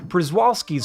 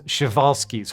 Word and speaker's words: Przewalski: And, yep, I did pronounce that in the fairly common, Americanized way in the original video, but it’s more correct to pronounce it as ‘shev-all-ski’s’ horse.